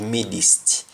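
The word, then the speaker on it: midst: And then we go to midist. Instead of midist, we don't pronounce the T at the end of midist. We simply say midis.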